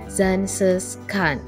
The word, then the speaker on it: Zaanse Schans: Pronounce-nya sebenarnya gini, Sansesan. Agak susah, jadi kita persimpel aja jadi Sansesan.